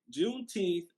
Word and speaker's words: Juneteenth: thank you um june juneteenth don't get me caught up on my dates uh juneteenth is spelled just like it sounds j-u-n-e-t-e-e-n-t-h junete in juneteenth was the last